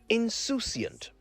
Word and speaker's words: insouciant: s o u c i a n t insouciant it's an adjective which means not caring or